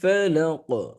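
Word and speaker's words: فَلَق: মোটা করে পড়তে হয় ফালাক হরফটা কলকলাল হরফ যখন কফ হরফের উপরে সুকুন করা হয় মানে মানে সাকিন করা হয় তখন কফ হরফটি কলকলা হয় আর যদি সেই সেকেন্ডটা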